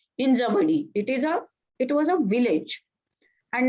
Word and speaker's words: Hinjawadi: We call it Hinjewadi. Some people call it Hinjewadi. I'm Maharashtrian, so I pronounce it as Hinjawadi.